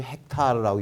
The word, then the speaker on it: 헥타르: 근데 이게 이제 헥타르라고 읽는데요.